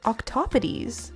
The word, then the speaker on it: octopodes: So technically, the grammatically correct way to say the plural of octopus is actually octopodes.